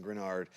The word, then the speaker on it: Greenard: The Eagles traded pick number 98 to the Vikings for Jonathan Grenard.